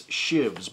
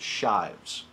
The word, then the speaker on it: Shives: of people think it's shivs but there is an e in there at the end which makes it Shives Steve Shives is my is how